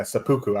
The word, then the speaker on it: seppuku: tick tocks in a row I would commit seppuku is that I don't even know how to if that's pronounced yeah that's right yeah sapuku I just it's over so chiarelli make a